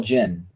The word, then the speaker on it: Djinn: Well, they call Jinn. The D is silent. That's what I heard.